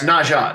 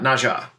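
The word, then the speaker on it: Nezha: to read on for how do you say it Neza NRA nezza nesra nezza or na no it's Naja Naja NAA yeah I want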